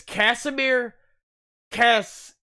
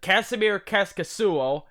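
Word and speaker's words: Kasimir Kaskisuo: This guy, Russian, his name is Kasimir Kaskasuo. That's how you pronounce it. Kasimir Kaskasuo.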